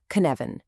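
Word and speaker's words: Cynefin: First things first, it's pronounced Kvan.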